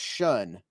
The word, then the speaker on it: Shun: that and well um it's spelled Shoon but pronounced shun and it's I don't